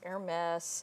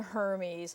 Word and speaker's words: Hermès: I've heard it pronounced Hermès and even Hermes. It doesn't matter how you say it. Somebody French is going to correct you.